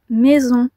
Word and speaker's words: maison: Maison. Alors ici, aucun son A à l'oreille. Cependant, vous voyez le AI, pareil que pour balai, A plus I donne E, mais pas le son A.